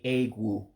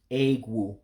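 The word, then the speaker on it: egwu: You would just say A-Gwue. A-Gwue. Just 2 syllables.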